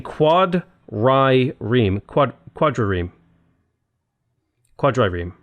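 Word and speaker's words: quadrireme: how I'm saying it I'm not saying Quoddy ream like I'm saying quad Rai Reem quad quad Ram quad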